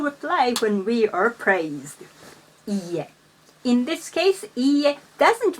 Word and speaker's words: いいえ: いいえ.